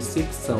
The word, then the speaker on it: secção: E tem seção assim também, ó, secção, a pronúncia seria secção, né? É idêntica a essa.